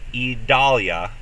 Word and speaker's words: Idalia: about tomorrow uh tracking idalia three syllables and we'll keep you